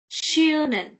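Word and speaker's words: schön: Shen see I'm going to make it very simple for you because we have done od so this whenever you see it together it will give you the sh sound like sh sound of English.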